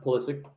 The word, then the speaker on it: Pulisic: besides pelicity everybody say his name right yeah pulisic there's not really anybody else that extends out